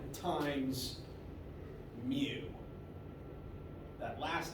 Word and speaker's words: mu: it's this or this it's Greek letter mu which is to M like how new is to n ah so it is